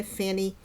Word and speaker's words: Fani: Now, Fani, but her name is spelled F-A-N-I, Fanny.